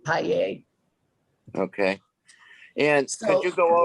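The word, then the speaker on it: Pajer: name please p-a-j-e-r e-a-j-e-r i think she pronounces it paella okay and could you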